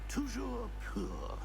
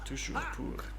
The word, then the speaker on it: toujours pur: Toujours pur. Toujours pur.